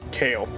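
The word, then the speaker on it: Kalle: kamos I like that I looked it up and the pronunciation is kale really yeah I thought it was Ki too cuz cuz it sounds cooler kale is a type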